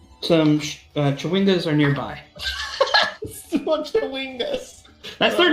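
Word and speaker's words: Chwingas: What Chewingas? That's their name. That's their name. I'm looking at the pronunciation guide.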